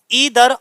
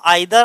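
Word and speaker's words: either: फिर दूसरा है हमारा ईदर और, इसे हम आइदर और भी पढ़ सकते हैं, जैसा तुम्हारा मन करे वैसा पढ़ो।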